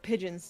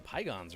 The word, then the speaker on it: pigeon: It's a lot of pigeons today. Right? A lot of pigeons. Yeah, the Pygons are really winning today.